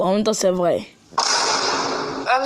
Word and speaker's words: homme: Homme, ça s'écrit avec un H mais qui ne se prononce même pas.